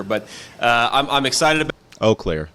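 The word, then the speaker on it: Eau Claire: uh I'm I'm excited oakair sorry it's not you Clair oair I'll make sure I pronounce it correctly for the rest of the video oair about it and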